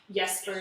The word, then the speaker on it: Jesper: uh and I think you could argue that like yeser is actually Jesper because he's from Noam and his father would be using the Z pronunciation um but uh I